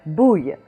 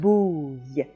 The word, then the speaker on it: bouille: So you have bouille. Bouille. We had it in hard word number 11 in a grenouille, in the same sense, ouille, ouille.